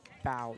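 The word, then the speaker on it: Beau: I believe it's Bow Taylor. How do you spell it? Is it bow? B B E A U. That'd be B normally would be how that pronounced.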